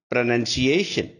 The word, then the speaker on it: pronunciation: you can find out there is no whoa after n in pronunciation therefore pronounce pronunciation next one people usually